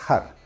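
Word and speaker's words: הר: g y una res eso se pronuncia har que es montaña montaña O sea que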